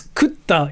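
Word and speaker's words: 食った: It's not kura. It's kutta is like the same thing. It's kut. Kutta. Kutta. So kutta. You just basically put a small t.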